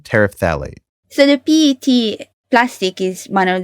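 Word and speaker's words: terephthalate: god of pronunciation okay I looked it up it's pronounced polyethylene tariff phthalate so the pet one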